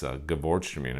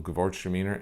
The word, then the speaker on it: Gewürztraminer: Looks nothing like the way you say it. So yeah, that's Gewürztraminer, another white wine out there that I remember buying my first bottle of Gewürztraminer, and I totally butchered